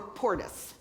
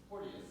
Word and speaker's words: Porteous: Did you say Porteous or Portis? Porteous. But yeah, okay, I said it right.